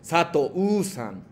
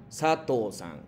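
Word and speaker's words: 佐藤: Normalmente cuando terminan una palabra, incluso nombres como U, no pronuncias como fuertes la última pronunciación es de U. Como no es Sato-u-san, no, Sato-san. Como no hubiese existido la pronunciación es de U.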